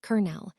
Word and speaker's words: colonel: Colonel. Look at it now. Say it. Colonel. Where did the R come from? Why is the L silent?